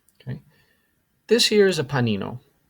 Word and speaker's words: panino: here is a Panino it is not a panini um Panini I've I've heard very very use very very much so Panini is the plural form of Panino Panino is the singular form and that is the correct spelling Panino sandwich next we have